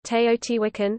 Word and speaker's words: Teotihuacán: Teotihuacan, in Spanish, Teotihuacan, Spanish pronunciation, Teotihuacan, listen, modern Nahuatl pronunciation, is an ancient Mesoamerican